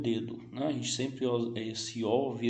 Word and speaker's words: dedo: Em português eu leio o dedo, né? A gente sempre esse O vira um U, nós brasileiros falamos dedo. Em espanhol seria dedo, dedo. O O sempre tem som de O, sempre, dedo, sim?